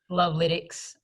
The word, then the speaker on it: Lovalytics: Is it Lovalytics or Lovalytics? Lovalytics. Lovalytics, right. Okay, it's Lovalytics, everybody.